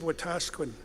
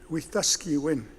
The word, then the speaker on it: Wetaskiwin: would a city of Wetaskiwin unfortunately mispronounced it's a Cree word with the ski win with the ski win